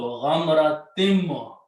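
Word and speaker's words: غَمْرَةٍ مِنْ: You put a shadda, which means this sound of noon should be pronounced as sound of meme. So ghamratim.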